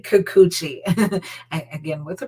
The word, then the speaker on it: Kikuchi: Jays, and that's 30-year-old left-handed pitcher You say Kikuchi. Again, with the pronunciation, Kikuchi.